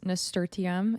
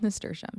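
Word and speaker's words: nasturtium: work on my nestam which I used to pronounce nerum if you watched my previous garden video I think you heard me say that and I've now learned that it's called neram so I'm glad we've got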